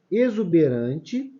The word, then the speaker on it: exuberante: e exótico Olha só exuberante exuberante tem um som de z tá vendo excitar esse